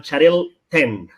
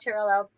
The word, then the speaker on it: Xarel-lo: with Macabeo, Parellada, and Xarel 10. Because in Spanish doesn't exist L.L, and it said Xarel 10, no? like Chanel.